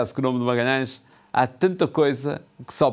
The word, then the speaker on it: Magalhães: O nome de Magalhães não é fácil de pronunciar por estrangeiros. Era assim que ele assinava, como podem ver registado nos documentos da época. Pela dificuldade de dizer as vogais nasaladas e fechadas, Fernão de Magalhães, o